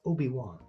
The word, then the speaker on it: Obi-Wan: It was like she like hardcore pronounced the one. Obi-Wan Kenobi. It's Obi-Wan. It's very smooth.